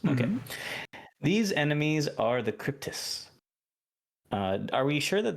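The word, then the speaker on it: Kryptis: are W demons okay these enemies are the cryptis uh are we sure that that's how they're called cryptus that's a pronunciation yes not craziness yeah yeah okay the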